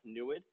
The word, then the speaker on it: NEID: It's pronounced NUID. NUID means to see in the native language Hono Odom, which is the native land that the instrument will be built on later this year.